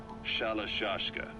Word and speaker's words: Shalashashka: By the time I got to hearing about it, the pronunciation had wound up as Shalashashka.